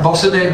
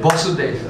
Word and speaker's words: Vasudeva: It means the son of Vasudeva. First one has a long A. Vasudeva is a long, short A. Vasudeva.